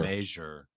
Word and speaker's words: Crochet: think about it as it rhymes with measure the way he says it it's major major majure that's direct from the player Adam major exctly from